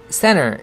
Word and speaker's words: center: 센터라고 안 하고 t를 죽여서 center 이러죠.